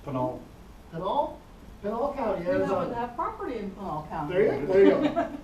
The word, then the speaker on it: Pinal: Does anyone know how to pronounce that? Pinal? It's Pinal.